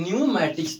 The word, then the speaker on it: pneumatics: तो इसको पढ़ते हैं न्यूमैटिक्स। तो अब क्या है कि पी के तुरंत बाद यहाँ पर आपका क्या आ गया है? तो एन आ गया है। तो इस स्थिति में पी आपका साइलेंट हो जाएगा, ठीक है।